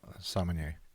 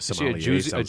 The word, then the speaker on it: sommelier: She's a sommelier. Sommelier. Why do I always get that wrong? Because Somalia is a terrible place to be a sommelier.